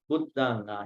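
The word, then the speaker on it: buddhaṃ: Can anybody find out the nasal over here? Buddhang, here nasal, Buddhang. Sarana, again nasal. Dhamma, here M, nasal. Sanghang, nasal. Sarana, here nasal. Ola, nasal. So nasals have to be properly pronounced.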